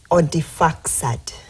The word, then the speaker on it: Odifaksad: Odifaksad. It's from where? Odi, like, you spell it like Audi, but then you pronounce it Odi.